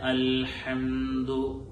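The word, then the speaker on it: الحمد: അതുപോലെ തന്നെ അൽഹംദു, നേരത്തെ പറഞ്ഞതുപോലെ തൊണ്ടയുടെ മധ്യഭാഗത്തിൽ നിന്ന് തന്നെ പ്രത്യേകമായി ഉച്ചരിക്കുകയും ദാലിന്റെ ലൊമ്മ് പ്രത്യേകമായി ചുണ്ട് കൂടിയായിരിക്കണം നമ്മൾ ഉച്ചരിക്കേണ്ടത്. പലപ്പോഴും ചുണ്ട് കൂടാതെ ഉച്ചരിക്കുമ്പോൾ ദാലിന്റെ ആ ലൊമ്മ് പൂർത്തിയാവാതെ പോവാറുണ്ട്.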